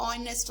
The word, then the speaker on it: honest: Like this friend's child, वो आके honest ही बोलता था, तो mother ने इतना बताया कि H silent होता है, honest होता है.